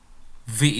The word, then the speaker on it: wie: Yang pertama kita bilang wie heißen Sie? Ingat ya, pelafalan W dalam bahasa Jerman itu bukan W tapi V ya, V.